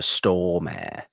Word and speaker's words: Stormare: I pronounce it Peter Stormare. Okay. But it's Storemore.